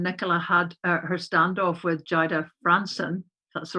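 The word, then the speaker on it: Jayda Fransen: last night when nicola had her standoff with jaida franson that's the right pronunciation and it's all been all over twitter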